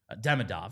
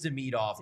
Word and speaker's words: Demidov: league Deidov comes over Demidov I've been saying it wrong apparently. Well no we are saying it right. It is the meid off but he is basically told them just call me Demidov. He's going the prov route. It's really prov but he's like dude you just call me prov.